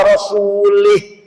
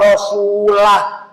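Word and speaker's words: رَسُولُهُ: Ada lagi orang baca Quran salah. Innallaha bari'um minal musyrikin wa rasulih. Allah tidak melindungi orang musyrik dan tidak melindungi Rasulullah. Salah. Yang benar bacanya innallaha bari'um minal musyrikin wa rasulah.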